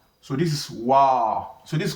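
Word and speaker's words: واو: After me the next one is what is called wow. So this is wow.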